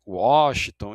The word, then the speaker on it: Washington: Então, também a pronúncia e o som variam conforme a origem da palavra, podendo ter som de U, e, né, de Washington e de som de V de Wagner, né?